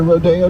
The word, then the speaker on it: Rodeo: wants to go shopping welcome to rodeo drive sometimes pronounced rodeo drive much is